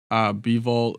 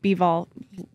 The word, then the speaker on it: Bivol: I just, it just seemed like, obviously, you know, Bivol, is that how you pronounce his name? Bivol, yeah.